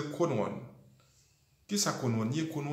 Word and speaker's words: Crowd1: Vous avez toujours entendu mon parler de Chrono One, l'écrit C-R-O-W-2 et puis un petit chiffre 1 devant. Vous prononcez le Chrono One.